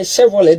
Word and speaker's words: Chevrolet: Chevrolet. That's a T. The tea is silent.